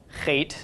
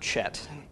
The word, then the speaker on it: Het: I mentioned last week this is Kate and not Chet the spelling is unfortunate we don't have English letters that represent the sound the hate makes it is a cup